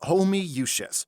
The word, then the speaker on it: Homoiousios: ] does this say it's pronounced homie yushes how there's 20 o's it's latin what'd you expect the ultimate collaboration project of 2022 omi yushes a symphonic death black